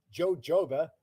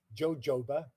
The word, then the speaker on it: jojoba: Jojoba, well, it's a Spanish word. And the J is silent. So it isn't jojoba, it's jojoba.